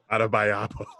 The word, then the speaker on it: Adebayo: God, you butchered that. Adebayo. And you had to stay adding extra syllables.